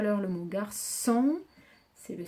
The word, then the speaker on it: garçon: Garçon.